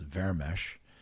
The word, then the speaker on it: Vermes: in Hungarian, he said, my last name in Hungarian is pronounced Vermes, and he basically said, Vermes, do you speak Hungarian?